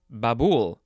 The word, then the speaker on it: babul: now we have uh babul b-a-b-u-l the emphasis is on the second syllable this is a noun from 1780.